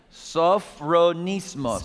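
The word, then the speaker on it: σωφρονισμός: Sophronismos. Pour sagesse, c'est le mot sophronismos. You want to try pronouncing that word vous with voulez me? Le prononcer avec moi? Sophronismos.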